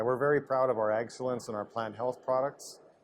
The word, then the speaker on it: AgCelence: Yes, AgCelence, correct.